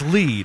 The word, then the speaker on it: Lied: it's just Rising they're just Rising Phillip it's lead okay and then people I say lead and they're like no it's lied I thought it was lead and then be